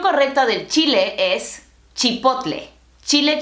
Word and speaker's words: chipotle: La pronunciación correcta del chile es chipotle. Chile chipotle. La pronunciación correcta de la marca?